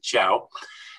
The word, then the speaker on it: Cao: dr denson ciao incidentally it's spelled cao just so but you pronounce it ciao and denson is responsible